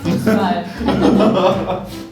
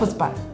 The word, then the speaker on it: Fußball: I mean, there's the double S, which is pronounced like slower, and this one is supposed to be pronounced faster. That's just it. but- Fußball.